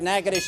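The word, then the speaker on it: Natchitoches: state it's also one of the hardest to pronounce that's right nakadish is right you've got your second street we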